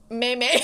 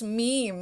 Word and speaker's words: meme: meme meme started beating m-e-m-e yeah i did meimei you were one of those people in high school someone's like it's meme i'm like what no they're like yeah it's